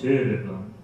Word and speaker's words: Soderblom: And I said it's Soderblom, but in Swedish it's Soderblom, or something like that.